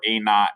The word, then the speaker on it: a naught: point 10 times whatever a naught is so when i this is a sub zero but technically it's pronounced a naught like n o t like not like not there no